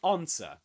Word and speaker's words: answer: So, we say answer, which means that the s is silent. You don't say un. Um, sorry, there's a mistake here. Yeah, you were confused that, weren't you? You were confused because of this, weren't you? What is silent here is the W.